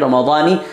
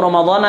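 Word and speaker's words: رمضانِ: Apakah seharusnya diucapkan "Ramadani" atau "Ramadana"? Hal ini dibahas oleh Imam Al-Bajuri dalam kitab Hashiyah-nya, dan pengucapan yang benar adalah "Ramadani." Mengapa " Ramadani"? Karena, menurut tata bahasa Arab (nahwu), itu adalah isim ghair munsharif.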